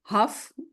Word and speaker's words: Hough: I think I butchered your last name, Huff. That was going to be it.